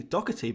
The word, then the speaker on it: Doherty: in the middle of doherty we do we in this country replace it with a curse sound which is which is